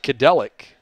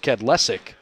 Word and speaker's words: Kedlesic: Great job defensively by Nick Kadelic. Actually, I beg your pardon. Last name is pronounced Kedlesic.